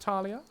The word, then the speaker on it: Thallia: Razir, Recasher, Scales, Talia, spelled Thallia, pronounced Talia. Hey Bray, welcome to the stream.